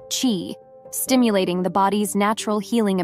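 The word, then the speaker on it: qi: this technique balances the flow of energy pronounced Chi stimulating the body's natural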